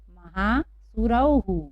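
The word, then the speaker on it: महासुरौः: जैसे एक और उदाहरण हम लेते हैं, महासुरव और उसके बाद विसर्ग है, तो हमें ऊपर जैसे ही यहाँ पर भी हु लगाकर इसको हम पढ़ेंगे महासुरौहु। क्या पढ़ेंगे हम इसको? महासुरौहु।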